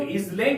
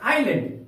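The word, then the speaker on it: island: डी इसको हम लोग इलैट नहीं पढ़ेंगे हम लोग पढ़ेंगे आइलैंड यहां पर एस साइलेंट है आइलैंड का अर्थ होता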